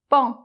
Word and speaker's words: paon: - C'est le paon.